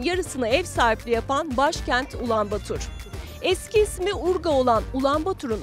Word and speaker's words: Ulaanbaatar: Ulaanbaatar'ı gezmeye hazırsanız başlayalım. Kendilerine Mongol, ülkelerine ise Mongolia diyen Moğollar, başkentlerini Ulaanbaatar diye telaffuz ediyor.